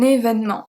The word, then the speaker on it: événement: We have un événement. Un événement.